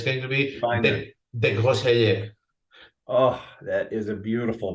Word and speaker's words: Desgrosseilliers: It's going to be Desgrosseilliers. Oh, that is a beautiful pronunciation.